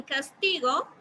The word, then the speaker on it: castigo: Estoy pronunciando más fuerte, tal. En castigo, voy a hacer lo mismo.